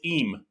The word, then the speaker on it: him: So Kurt Gowdy never pronounced the word him, H-I-M, right? It was always eem. He got him. There he goes. He got him. It was I-M. The H was always silent.